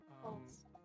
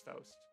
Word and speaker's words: Faust: I believe it's Faust. False is what I. Faust. I don't know. I think that's the German pronunciation, anyways. Who's the German one here?